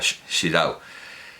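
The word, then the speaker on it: Xirau: traducción de Joaquín sirado pero el Catalán se pronuncia shirau el más alto arte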